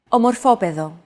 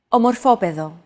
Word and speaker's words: Ομορφόπεδο: However, the accent mark had to be moved over to a different syllable in order to comply with our accentuation golden rule.